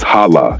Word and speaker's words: hala: It's noun it is pronounced as hala shortest sound.